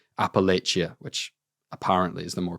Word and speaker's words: Appalachia: I think a lot of people will call it um Appalachia. A lot of people call it Appalachia. Believe the British pronunciation is actually Appalachia, which sounds kind of right to me.